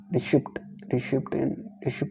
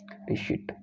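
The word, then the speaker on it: receipt: उदाहरण गलत किया जाता है, आप भी जानते होंगे, आप देखेंगे कि रिशिप्ट बोलते हैं RECAIPT को, जबकि इसका करेक्ट सही उच्चारण होता है रिशिट, गलत होता है रिशिप्ट।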